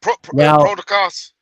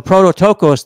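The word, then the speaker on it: πρωτότοκος: Protokos. No. Yes. That's the word there. No, prototokos. That's the word for firstborn.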